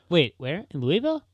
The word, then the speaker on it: Louisville: In Louisville? Louisville. That's how they say it there. Really? Not Louisville, how they say it in Kentucky, but they say it Louisville. Spelled the same.